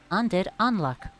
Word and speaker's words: Undead Unluck: Undead Unluck. That's the actual pronunciation of that word.